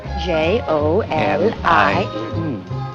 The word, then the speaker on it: Jolie: J O L I E. Ah, and pronounced Jolie.